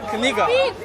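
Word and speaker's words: книга: It's Kniga.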